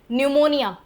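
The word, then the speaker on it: pneumonia: निमोनिया पी का कोई role नहीं है।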